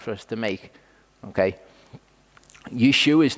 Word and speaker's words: Yeshua: Yeshua's name actually ends in an ayin, so technically his name is Yeshua. That's kind of, it's lost in the subtlety of pronunciation.